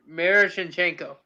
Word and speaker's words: Miroshnichenko: Miroshnichenko.